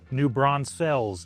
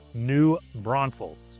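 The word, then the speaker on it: New Braunfels: You just explain, you just pronounce it the way it looks. But it is not New Bronze Fells. It is not New Bronzefell. It is New Bron Falls.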